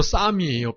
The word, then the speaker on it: Psalm: 시편이 영어로 쌈이에요. PSALM이라고 쌈인데 P가 묵음이고 그냥 쌈인데 그 쌈 116이라고 쓰고 있어요.